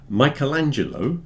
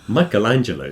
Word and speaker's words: Michelangelo: So we have a quote here from Michelangelo, as he's pronounced in English.